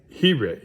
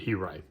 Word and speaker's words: He-Write: And next we have, this is He-Write. That's how you pronounce it, He-Write.